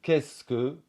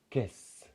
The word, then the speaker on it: qu'est-ce que: du français parler c'est une simplification de qu'est-ce que qui va va devenir caisse alors ça n'est pas